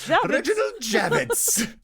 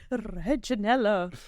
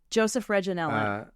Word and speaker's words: Reginella: by the name of Joseph Reginella. Reginald Javits. Reginella. Wait, say his name again. I got caught on the reg part. Joseph Reginella. Joseph Reginella. Okay.